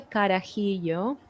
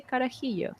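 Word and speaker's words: carajillo: we also have the karahiyo I will pronounce that but here they will say karahillo okay and it's basically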